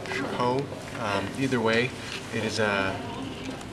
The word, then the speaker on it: Chapeau: It's pronounced Chapeau. Chapeau.